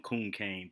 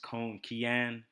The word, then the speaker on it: Conquian: All right, welcome to a new card game tutorial, and this one is for a game I grew up calling Conquian, but the correct pronunciation for it is Conquian, and it's a Spanish card game.